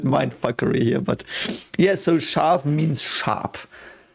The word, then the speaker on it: Scharf: Scharf is basically just pronounced like that because there's an S, C, and H, and that always means it's, like in English it's an S and an H, but it's exactly the same sound.